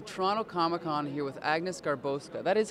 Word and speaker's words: Garbowska: are at the Toronto ComicCon here with Agnes garbosa that is how you pronounce it right yep that's actually exactly how